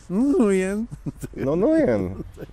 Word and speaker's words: Nguyen: Nie, te wszystkie glisy, te wszystkie takie, to są nujen. Także ten, że nie, to jest, na pewno jest. Dzięki niemu nauczyłem się, że tam się G nie wymawia, bo on jest nujen li.